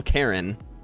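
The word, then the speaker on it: Caryn: And And it's not spelled Karen like with a K. It's spelt with like it's spelled like super weird with like a C and it's like Hold on. Where is this? It's spelled with Oh, it's like C. It's like C A R Y N. But it's still Karen.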